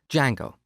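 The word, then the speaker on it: Django: very popular framework called D Jango so it's spelled with a silent D and it's pronounced d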